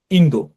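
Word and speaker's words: インド: তারপর দেখেন ইন্দো। ইন্দো মানে হচ্ছে ভারত। অর্থাৎ আমরা ইন্ডিয়া বলি কিন্তু জাপানিরা ইন্দো বলে।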